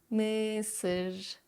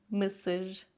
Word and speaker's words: mısır: So if you know that meme, just focus on that sound. Kısık, kısık, ışık, ışık, mısır, mısır, yazlık, yazlık, kadın, kadın.